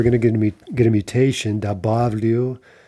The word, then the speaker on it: добавлю: Добавлю, but stress is on the stem.